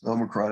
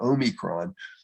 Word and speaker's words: Omicron: And I'm told that there are many officially correct pronunciations, but the American approach is Omicron. I think the Brits are Omicron.